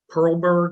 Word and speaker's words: Perlberg: All right, would you like, it's Perlberg, am I pronouncing that correctly? Yes, Jim Okay.